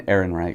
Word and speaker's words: Ehrenreich: Alden Ehrenreich.